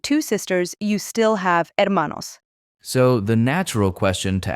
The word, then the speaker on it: hermano: Brother is hermano, and sister is hermana. Remember that silent H at the beginning.